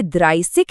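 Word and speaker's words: dreißig: इसीलिए यह द्राइसिक है द्राइज़िक नहीं।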